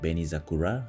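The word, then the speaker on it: 紅桜: Oh, by the way, this word we Japanese pronounce like Benizakura, that's red cherry blossoms.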